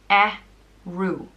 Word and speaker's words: Ériu: The next one is Ériu, and it means Irish goddess, and it's pronounced Ériu.